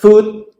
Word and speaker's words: food: So in the word food, we want to put our lips really forward, really round, and make an oo sound.